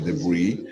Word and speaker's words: debris: Debris, a palavra de origem francesa, né, se pronuncia debris, entulho, significa entulho, uma palavra apropriada no inglês a partir do francês.